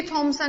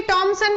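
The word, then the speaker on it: Thomson: टॉमसन थॉमसन में दोनों एक ही बात है। तो ये बोलने पे, प्रोनाउंसिएशन पे इफेक्ट पड़ जाता है, तो उससे कुछ कोई बोल देता है टॉमसन, कोई बोलता है थॉमसन।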